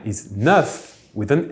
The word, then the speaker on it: neuf: The number 9 is neuf with an F. That F rarely will be pronounced like a V if followed by some words starting with a vowel.